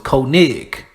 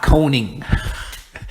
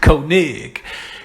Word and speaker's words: Koenig: is felt KO e in OG so it's Koenig not coning Koenig it's crazy man should never be able to printer pronounce his other streak to because it's spell